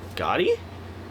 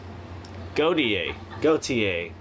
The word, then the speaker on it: Gotye: So, you know, how do you pronounce that artist's name? Gotti? Oh, Gotye.